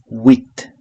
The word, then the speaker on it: huit: 8 is huit. So in French, if a word starts with H, we don't pronounce the H, okay? So huit.